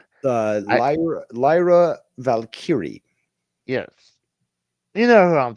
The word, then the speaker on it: Lyra Valkyrie: the I mean I know there's I can't pronounce that woman's the Intercontinental Champion. What was it? Lara Valkyrie. Uh Lyra Lyra Valkyrie.